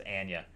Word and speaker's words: Anya: that's how you say her name it's not Anya it's Ana just FYI uh and Chris Hemsworth doing a